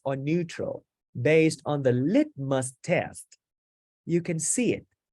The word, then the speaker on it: litmus: is let must test the stress is good in the first syllable litmus test here it is